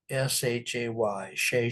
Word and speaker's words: Shay: By the way, the art up there, the artist's name is spelled C H E Z S H A Y. Shay Shay.